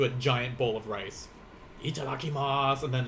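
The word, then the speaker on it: いただきます: watch it subtitled yeah the u tends to be very silent i kind of like the how i especially in like she like uh can be silent sometimes as well so itadakimasu like whenever i think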